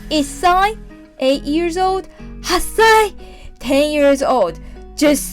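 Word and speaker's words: 八歳: the last one is 10 years old we pronounce it so one year old is sign eight years old hassai ten years old just say we got three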